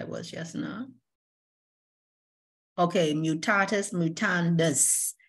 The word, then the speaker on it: mutatis mutandis: Okay, mutatis mutandis. It's a Latin word, of course.